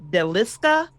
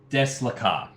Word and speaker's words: Deslakar: trying to track down is it Deliska? Yes. You are looking for specifically. Let me just get the exact pronunciation correct. Just one moment. Deslakar.